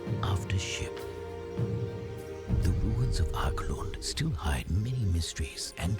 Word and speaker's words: Archaelund: So Archaelund is the right pronunciation.